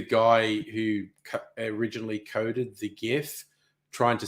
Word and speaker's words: GIF: the first word yeah the first word in the acronym of GIF stands for graphical graphical it is a hard G so bugger off it is not if it is GIF and you can go